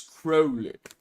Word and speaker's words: Crowley: OTO people will get mad about me saying Crowley. It's Crowley. You have to say it right.